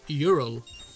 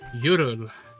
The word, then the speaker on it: Hyrule: the Z cartoon, uh Hyrule was pronounced Ural soft age. Ural very fun pronunciation if you ask us.